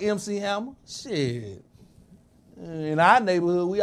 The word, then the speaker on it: MC Hammer: trying to look like MC Hammer. Shit. In our neighborhood, we always had that one kid that couldn't pronounce it right. EC Hammer. Yeah. EC Hammer. Who the fuck is that? It's MC.